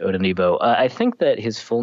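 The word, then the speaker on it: Odenigbo: Uh the pronunciation guy said not to pronounce the G. Uh and so I'm going to not pronounce the G in a fetti Odonbo.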